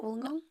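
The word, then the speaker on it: Wollongong: Woolingong.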